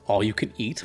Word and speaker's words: Allucaneet: And the other one, I think it's pronounced All-You-Can-Eat Palace theme. It's all one word, all you can eat.